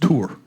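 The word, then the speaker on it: תור: In fact, the word that is translated spy in Hebrew is actually pronounced tour.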